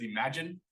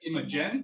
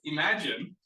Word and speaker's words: Imagen: spelled im a GN we're supposed to pronounce it as imagine just work with me here that's what I've been told and I'm it sounds like IM yeah imagen but I've been told